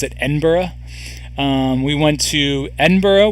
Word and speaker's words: Edinburgh: to Edinburgh uh which I always called it Edinburgh I had no idea that you actually pronounce it Edinburgh um we went to Edinburgh we went to